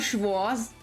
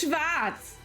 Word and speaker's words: Schwarz: It's not Schwarz. It's Schwarz. Schwarz-Drache-Barriere. Not Schwarz-Drink-Barriere. Oh, nee, come on. Leave me alone. It makes me nuts. Meanwhile, Japanese has been doing Schwarz the entire time.